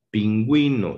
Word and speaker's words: pingüino: Por ejemplo, en la sílaba ge, gi, cuando debe sonar la U, cuando quiero que suene la U, debe de ponerse sobre esta una diéresis, es decir, 2 puntos. Por ejemplo, cigüeña, pingüino.